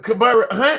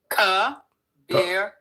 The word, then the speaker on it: Kabir: No, you're not. Correct me. I don't want to your name. What's your name? Kabir. Okay. Soft. A soft eye.